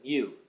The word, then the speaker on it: mu: the population though with the Greek letter U pronounce it mu spelled m u the Greek letter mu we